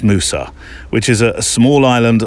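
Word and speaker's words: Mousa: think I might have said MAA well it's Musa which is a small island off the east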